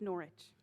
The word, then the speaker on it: Norwich: writings of the medieval mystic julian of norwich pronounced norwich julian was a real person who lived in